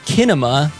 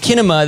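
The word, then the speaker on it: κίνημα: from the greek word it's spelled with a k so i believe it's pronounced kinema and kinema that makes sense means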